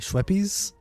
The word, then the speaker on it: Schweppes: Schweppes is so cute is how you say it.